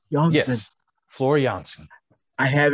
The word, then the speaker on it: Janssen: Janssen.